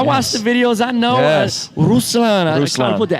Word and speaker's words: Ruslan: Thank you for pronouncing that right. Yeah, man. I watched the videos. I know. Ruslan.